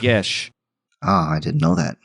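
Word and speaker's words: geas: this a you're saying is it the g-e-a-g-e-a-s yes that is apparently pronounced yes oh i didn't know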